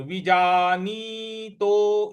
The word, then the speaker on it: विजानीतो: तो उभौ तौ न विजानीतो, विजानीतो वह पर छोटी की मात्रा है तो वी, जा न पर बड़ी की मात्रा है तो विजानीतो इस प्रकार से बोलेंगे।